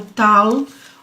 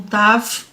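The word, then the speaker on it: תו: E nós vamos até o finalzinho do 119, que é o Tal, ou Tav, como é pronunciado.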